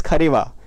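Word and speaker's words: Kharewa: Next is खरेवा। Next is खवा। Next is यह वो वाली खरेवा नहीं है। यह खरीवा है।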